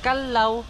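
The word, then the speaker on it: Callao: diyan and yung cave May tatlong pronunciation po siya Kalaw kalo and Kalaw Okay so yung Kalaw po yan po yung ibon or sa English yung hornbill and yung ciao isa po siyang Spanish word which means peaceful place and Kalaw Yun po yung correct pronunciation po kalo okay and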